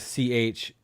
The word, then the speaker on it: Chalamet: looking them up t-i-m-o-t-h-e-e chalamet c-h-a-l-a-m-e-t i thought you were mispronouncing charlemagne but no you're right chalamet um oh goodness oh